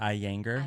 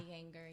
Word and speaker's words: Iyengar: She did some research, found out that Iyengar yoga is really good, which is like How do really you you're pronounce just it? Iyengar? Iyengar.